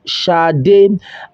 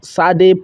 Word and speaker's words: Sade: interviewer telling him that her name is Sade, pronounced Sade, and not Sade, pronounced like the word made.